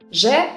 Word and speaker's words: Ж: Zh resembles the French je, like in the words bonjour, jouer, étrange, zh. And z sounds the same as the English z, like in the words zoo or zebra, z.